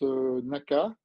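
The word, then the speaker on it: 中: En japonais, ça se prononce naka.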